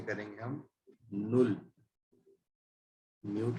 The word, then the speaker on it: null: तो जीरो को German language में कहा जाता है नुल, इसकी स्पेलिंग है NULL, नुल। और इसको प्रोनाउंस ऐसे ही करेंगे हम, नुल।